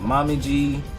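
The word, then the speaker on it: Momiji: You had Rachel, you had Mommy Gi, that's how you pronounce her name, Omiji, and you had Yane.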